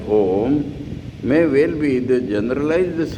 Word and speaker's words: Om: And it is explained in Sanskrit A, U and Pronounced in combination, when it is pronounced in combination as Om, may well be the generalized symbol of all possible sounds.